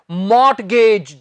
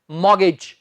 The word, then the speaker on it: mortgage: बहुत से लोग इसे बोल देते हैं मॉर्टगेज, जी ये मॉर्टगेज नहीं होता, इसका सही उच्चारण है मॉर्गेज, मॉर्गेज। इसमें हम टी नहीं बोलते, बोलकर बताएं क्या है